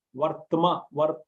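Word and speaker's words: वर्त्म: Mama vartmanu vartante. Mama vartamanu vartante. Mama vartmanu vartante. Manavartmanuvardante Manushya Partha Sarvashah. Manushya Partha Sarvashah. Yedi Yaham Navarteyam Jatu Karmanyatandritaha Mama Vartmanuvartante Manushya Partha Sarvashah. Vartma, Vartma, W-O-R-T-H-M-A, Vartma.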